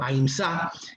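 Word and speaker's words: अहिंसा: del principio de aínsa o como se pronuncia en sánscrito aínsa que es no violencia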